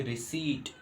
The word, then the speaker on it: receipt: ध्यान से देखें आप इसको, तो यहाँ पी का प्रोनाउंस नहीं होगा, पी की आवाज़ नहीं आएगी। इसको हम पढ़ेंगे रिसीट।